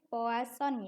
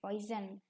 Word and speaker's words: Poisson: Ciri-ciri dari sebuah distribusi Poisson, ini dibacanya Poisson ya, bukan poison, bukan racun, tapi ini adalah nama penemunya, yaitu distribusi Poisson.